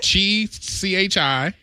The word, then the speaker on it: Chihuahua: Sounds like there should be a W. No. Yeah. Did I get it right? According to this, CHIHUAHUA. Exactly. Chihuahua. And how I would spell it is CHIWAWA.